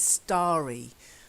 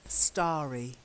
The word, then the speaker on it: starry: words okay knots teri we have got the verb to stare and you can be scary eyes when you're staring and your eyes aren't blinking much but this is starry as in lots of stars in the sky okay try it starry starry yeah one of April's